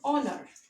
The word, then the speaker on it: honor: is starting with edge h is silent here we always spell it like honor so children we will place it under and and honor why because we are